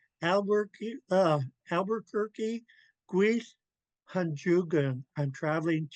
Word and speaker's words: Albuquerque: I had to look up how to spell this because we don't pronounce it anyways near the way it's spelled. Albuquerque, Albuquerque, Guis Hanjugan.